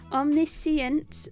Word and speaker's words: omniscient: this dang word omnis omniscient omnis omniscient I keep wanted to put p in there there's no p in